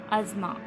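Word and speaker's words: asthma: इसको कहा जाता है अजमा टेस्ट में पास साइलेंट होगा अर्थ मार्स है नेक्स्ट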